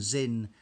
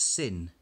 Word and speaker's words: Sinn: 3 5 6 and Zin a German watch manufacturing company I would have pronounced it sin but I'm reliably informed in German it's in now this is not